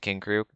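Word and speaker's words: King Krule: That's how you pronounce it, King Krug.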